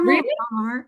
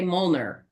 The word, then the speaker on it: Molnar: Molar. Yeah. You say it right. A lot of people say Molner.